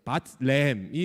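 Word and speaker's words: בית לחם: 그래서 바트레헴이 원래 히브리어 발음이거든.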